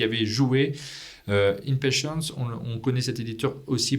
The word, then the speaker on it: InPatience: J'ai dit impatience tout à l'heure. C'est très bien impatience mais c'est la vraie prononciation. C'est la prononciation française.